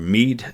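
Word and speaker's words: Meath: t but they told me it's kind of me is how it's pronounced um I'm still working on my Irish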